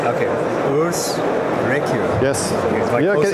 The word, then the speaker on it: Urs Recher: It's pronounced Urs Recher. Okay. Urs Recher.